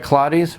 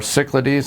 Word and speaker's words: Cyclades: want to pronounce it you have lottie's or Cyclades or Psych lottie's or however you want to pronounce and we can cover